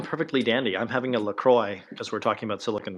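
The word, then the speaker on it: LaCroix: you doing I'm perfectly Dandy I'm having a lacroy because we're talking about Silicon Valley it's pronounced laqua laqua by the way I um you know the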